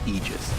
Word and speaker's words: aegis: frog made a point okay so the correct pronunciation technically speaking of ages is aegis it's a literal word we're gonna see it